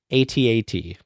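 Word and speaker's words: AT-AT: The official pronunciation for ATAT is the phonetic one, as it rhymes with hat.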